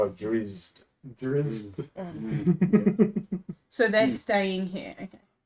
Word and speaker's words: drow: cities cuz those are worse how do you pronounce it's not drits that's not the way it's spelled yeah I always said it but it's it's drizz drizz so they're staying here okay and did